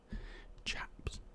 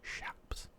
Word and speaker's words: chaps: other essential essential accessories chaps which were actually pronounced shapes were leggings designed to